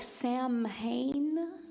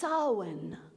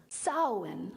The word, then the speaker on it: Samhain: sowin and all Hollows it looks like Sam Hayne but apparently because the Irish alphabet has nothing to do with the English alphabet it's pronounced sawen sawen sowin and um then I